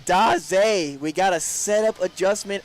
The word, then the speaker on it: Davis: It is pronounced D. We will make that adjustment moving forward. So it is Ryan Daz.